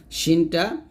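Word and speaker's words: شين: সি এরকম উচ্চারণ করবেন শিনটা জিবার মধ্যখান তার বরাবর উপরের তালুর সঙ্গে লাগিয়ে স্পষ্ট শীষ ধ্বনি সহ উচ্চারণ করতে হবে এখনো শীর্ষ ধ্বনি হবে যাকে আমরা তাফাস শীষ বলি এরকম এরকম একটা শীষ ধ্বনি হবে শিন শিন এরকম ভাবে তারপর হচ্ছে সদের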